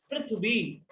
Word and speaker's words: पृथ्वी: होता वो ऋण होता, पृथ्वी। ये है प्रभु, प्रिभु नहीं है ये प्र। इसका उच्चारण है पृथ्वी, इसका उच्चारण है प्रा, ये प्री, प्रा प्री।